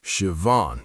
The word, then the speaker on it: Siobhan: Her name was Siobhan, pronounced Siobhan. She taught me after I butchered it 3 times.